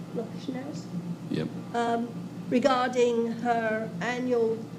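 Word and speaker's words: Loshnowsky: o s h n o wsk k y lowski yep um regarding her annual light up the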